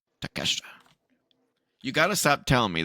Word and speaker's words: Takeshita: Take a shitta. That's not how you say it. You are terrible. It's not take a shit, it's take shit, Take shit, Takeshita.